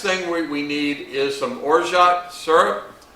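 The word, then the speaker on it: orgeat: we need is some orot syrup o r g a t but the French pronounce it or it's a almond citrusy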